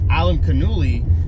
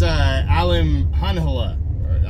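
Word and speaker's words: Alimkhanuly: I was pronouncing it exactly the way you read it, which is Alem Kanuli. And I guess it's Alem Hanhala. Yeah, something like that.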